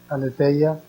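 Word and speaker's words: Aletheia: revista que se llama Aleteia, Aleteia se escribe con H después de la T, Aleteia, hay artículos sobre estos temas de participación infantil.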